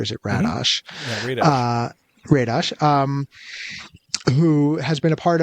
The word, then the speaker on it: Radosh: with, humor writer Daniel Radosh, who, am I pronouncing that right, or is it Radosh? Mm-hmm. Yeah, Radosh, who has been a part of a couple of things.